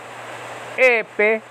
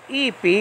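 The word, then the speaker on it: εἴπῃ: Okay, so over here, epe. Epe. Now, in modern Greek, it will be epi if they were sounding this off. Epi. Epe, because I'm talking about biblical pronunciation, you understand what I'm saying?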